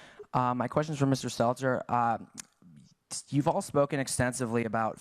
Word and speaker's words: Stelter: Is it Stelter? Stelter.